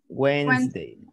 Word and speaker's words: Wednesday: here when's the like we don't pronounce the d and we don't pronounce the e wednesday wednesday correct just learn